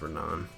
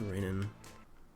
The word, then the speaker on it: Renan: I mean, the actual pronunciation is Renan, but for some reason, my parents were like, "We're just going to call you Rainan."